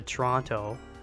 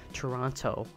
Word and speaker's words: Toronto: if you come to Toronto or Vancouver or some place you like you like how I set it there too I tried to pronounce a second T Toronto you know we say Toronto here but you wouldn't be